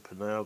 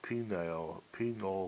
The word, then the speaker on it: pineal: Some people call it penile kind of sounding. I think that's wrong, but hey, everyone to their own, and my pronunciation is according to my country, how we speak.